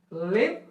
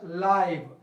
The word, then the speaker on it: live: So this word can be pronounced as live or live, my dear students.